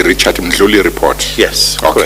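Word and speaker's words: Mdluli: is called the, I got to get this pronunciation right, the Richard Ndludli report. There was Did you say Richard Ndluli report?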